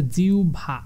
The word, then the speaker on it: জিহ্বা: আর জিহ্বা শব্দের উচ্চারণ হচ্ছে জিহ্বা, জিহ্বা।